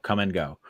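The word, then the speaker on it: Kum & Go: I saw it's spelled K-U-M and go. So come and go.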